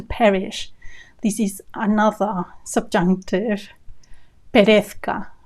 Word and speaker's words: perezca: Not the easiest to pronounce because of the Z next to the C. Z. Perez, the Z is th, and the C is k. Perezca. That combination is not easy.